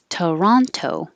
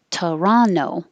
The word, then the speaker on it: Toronto: t monterey monterey 29 toronto with a tea or torrano without a t albuquerque albuquerque and this